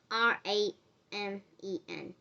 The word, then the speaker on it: ramen: m-a-g-i-c raymond is spelled r-a-m-e-n like just spell r-a and then just spell men m-e-n ramen now that is gonna be